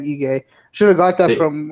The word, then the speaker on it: Ige: Is it Iggy? Ige. Okay, Dan Ige.